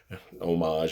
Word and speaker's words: homage: guess i'll call it homage i don't think you're supposed to pronounce the h but you know here